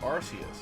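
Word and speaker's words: Arceus: Is it Archus or is it Arus? because they've said it both ways, but Archus is the modern way to say it.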